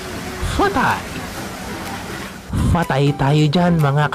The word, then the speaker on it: Pad Thai: Ito ang Pad Thai. Alam nyo ba na ito ang national food ng Thailand? At ang tamang pronunciation nito ay Phat Thai.